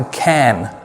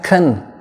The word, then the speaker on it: can: इसकी दो प्रोनाउंसिएशन है, एक फास्ट है और एक स्लो है। इसकी एक जो नॉर्मल प्रोनाउंसिएशन वो है कैन, आई कैन डू इट। और इसकी वीक प्रोनाउंसिएशन है खन, खन, आई कैन डू इट,